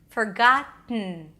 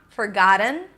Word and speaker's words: forgotten: All right, so it's not forgotten, All right? It's not even forgotten, although this is the preferred option if the ktten sound is difficult. All right? So you bring the tongue up, forgot, and then you release the air. Forgotten.